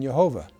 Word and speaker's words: Jehovah: But since tradition forbid the verbal pronunciation of the name, rabbis in the 16th century pronounced the consonants yad vad with the vowels of Adonai or Lord, resulting in Yhovah.